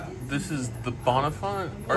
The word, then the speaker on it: Bonnefont: This is the What's How do you pronounce the name of the restaurant? This is the Bonafont.